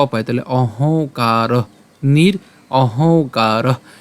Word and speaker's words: নিরহংকার: পাই উ এবং হচ্ছে ক পাই তাহলে অহংকার নির অহংকার স শান্তিম একই রকমভাবেযে এখানে যে ম আছে ম এর উচ্চারণটা আমরা হস চিহ্ন দিয়ে অর্ধেক উচ্চারণ করছি।